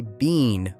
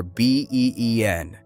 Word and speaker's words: been: Do not say been with a long sound for B-E-E-N. In American English, it sounds like been.